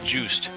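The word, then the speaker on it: Juste: Simon's grandson, Justy, or Just, I'm not sure how you pronounce that. It's a guy. It's a guy. I think it's pronounced Juiced. Juice.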